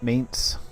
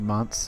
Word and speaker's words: Mainz: Okay, Mainz or Monts, depending on how you pronounce it.